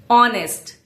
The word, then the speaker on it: honest: Honest. The H is silent.